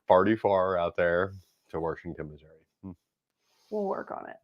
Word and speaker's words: Washington: It's actually we don't merge syllables together. We put an R in, so it's Washington.